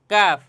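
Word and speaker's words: كاف: উচ্চারণের জায়গায় জিহ্বার গোড়া আর কাফের উচ্চারণের স্থান হচ্ছে জিহ্বা থেকে গোড়া থেকে একটু সামনে আগাইয়া কফ আর এটা হচ্ছে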